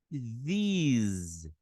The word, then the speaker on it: these: Então ficaria these, these, these, these. É como se fosse um Z ali, ó.